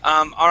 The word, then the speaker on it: all: Now, the way that we pronounce all, or that not the W, but the L there, is that you curve your tongue upwards, and the tip of your tongue is going to touch the top of your mouth.